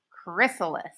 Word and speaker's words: chrysalis: how to say it Chris ah Liss chrysalis down here hey it